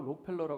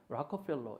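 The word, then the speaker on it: Rockefeller: 제 1 라펠 겁니다 우리는 한국말로 록펠러 가는데 라커 별로 이렇게 부르는게 발음이 더 정확할 것 같아요 록펠러 라는 인물 2분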